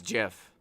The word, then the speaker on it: GIF: pronounced gif not gif i know what it's pronounced okay so is it gif or jiff it's jiff according to who i've always thought about the